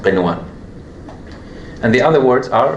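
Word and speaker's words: قنوان: So here, we pronounce it normally. We say qinwa. Because if somebody mistakenly applies idgham here, he would say qiwa, which if we hear it, we don't know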